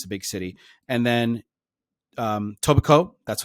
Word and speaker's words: Etobicoke: And then Etobicoke, that's how it's pronounced.